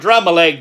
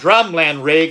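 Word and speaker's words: Drumlanrig: William Douglas fourth of drumland rig I may have been pronouncing that wrong earlier but I believe it's drum land rig was born about 1438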